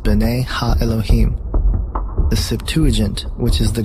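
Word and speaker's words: בני האלוהים: of God mentioned here in the Hebrew is pronounced Binet ha Elohim the Septuagint which is the Greek translation of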